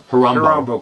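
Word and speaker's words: Horombo: Let's push on to Harumbo. Rhymes with Colombo. Well, it doesn't really rhyme with. But it's, It sounds similar to Harumbo Camp.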